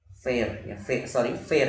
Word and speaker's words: fair: Bacanya fair ya. Fair Beda sama fear ya. Fear tulisannya FEAR, itu artinya takut ya. Fear. Ya kalau ini fair ya, fair. Jadi sedikit berbeda, pronunciation-nya sedikit berbeda.